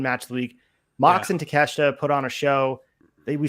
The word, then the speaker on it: Takeshita: bit alluding to it takeshita is one of those guys that was a relative unknown that came out we were calling him takashida on here we had no idea how to pronounce his name but now we're looking